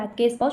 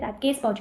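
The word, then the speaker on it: Rathke's pouch: रैटकेस पाउच, pronunciation थोड़ा important है, रैटकेस पाउच कहते हैं।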